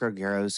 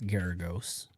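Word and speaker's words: Geragos: Defense attorney Mark Argyros, who does a lot of publicity, said one of the reasons why David has not... Did he just pronounce it wrong? It's Mark Garagos, right?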